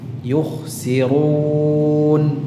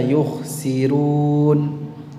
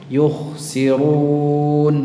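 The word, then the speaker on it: يُخْسِرُونَ: coba awazanuhum aazanum begitu kemudian yuksirun tebalkan rnya yukhsirun y ya begitu supaya tidak terjadi khalq campur aduk ya Ee tercampur riwayatnya Jadi kalau dibaca yukhsirun rnya tipis ini bukan e riwayat hafs ya tapi itu riwayat warsy jadi supaya tidak tercampur ya pastikan ro damahnya dibaca dengan tafkhim yukhsirun gitu ya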